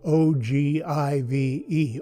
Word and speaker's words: ogive: on how long it is an ogive pattern that's spelled o g i v e ogive so we have an ogive nose cone